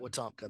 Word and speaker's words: Wetumpka: your word for it watopka thank you but they can call it Wetumpka that is how they say it or we tomka I